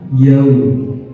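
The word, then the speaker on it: يوم: Yaum sama yaum. Kita sering mendengarkan ketika fathah ketemu waw dibacanya o, bukan u.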